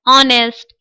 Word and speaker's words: honest: रहे हैं एच से, लेकिन यहाँ एच साइलेंट है, यानी एच का प्रोनाउंसिएशन हम नहीं कर रहे हैं, एच के बाद आए हुए लेटर के साथ हम शुरू हो रहे हैं।